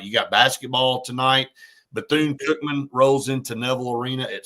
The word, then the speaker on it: Bethune-Cookman: Bethune-Cookman. What did I say it wrong or something? No. Well, you corrected yourself, but it sounded like you were about to say Buffoon?